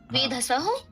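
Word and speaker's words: वेधसि: वेधसी, वेधसः, वेधसुः। हाँ ठीक है, वेधसी, छोटी ई का उच्चारण करना।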